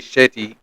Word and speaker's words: Shetty: Jay Shetty.